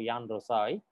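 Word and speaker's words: Juan Rosai: The J is silent here, so Jan Rosai.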